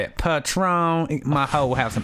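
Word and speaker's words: Patrón: Patron.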